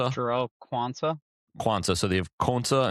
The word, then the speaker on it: Quansah: Jarell Quansah.